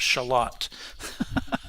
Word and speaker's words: Charlotte: A neighborhood of Rochester is called Charlotte, but pronounced Charlotte.